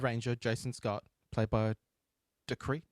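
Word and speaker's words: Dacre: Jason Scott played by decree d decree Montgomery I don't know how to pronounce it's da a c re call him Dair Dair yeah so when um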